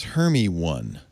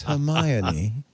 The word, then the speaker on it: Hermione: And she said, the one question she gets all the time is, how do you pronounce Hermie one? Wait, what? It's Hermione. Hermione.